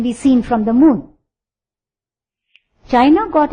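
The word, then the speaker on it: Qin: seen from the Moon China got its name from Quin or chin it's pronounced as chin once they were ruled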